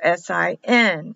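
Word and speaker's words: שׂ: The dot on the left, the dagash, is SIN for S. It'll just be a S, and this will be a SH.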